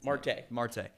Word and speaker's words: Marte: conversation, is like Elly De La Cruz, the Mortel guy, or Morte. How do you say his kid? Marte.